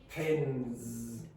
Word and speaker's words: pens: There are no Z sounds. Okay, so especially in Spanish from Spain. So say pence. This is not so much a problem for Latin American Spanish speakers. Say pence. Pens. Now do you hear?